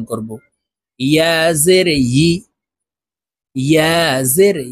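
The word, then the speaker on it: يِ: শুরু থেকে উচ্চারণ করি ইয়া জের ই এভাবে বলে থাকি প্রিয় দর্শক ইয়া হরফের উচ্চারণ জিহ্বার মধ্যখান থেকে করতে হবে ইয়া জের ই আপনারা আমার সঙ্গে বলুন ইয়া জের ই ইয়া জের ই প্রিয়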